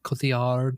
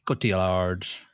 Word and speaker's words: Cotillard: How do you pronounce her surname? Cotillard. It was her Marianne. first. Yeah, Cotillard.